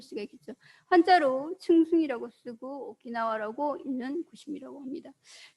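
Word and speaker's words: 沖縄: 한자로 층숭이라고 쓰고 오키나와라고 읽는 곳이라고 합니다.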